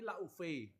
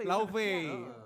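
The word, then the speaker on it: Laufey: eh Live live itu Laui itu kan bacanya live oh tapi Lauvei Lauve Lauvei bacanya Live Iya, jadi Icelandic itu kan jadi pron-nya live. Iceland.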